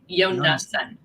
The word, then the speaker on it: Yonason: It's 3 syllables. So yo, Like Rocky, yo. nah. That's the NA, and then Jonas. son. Yonason.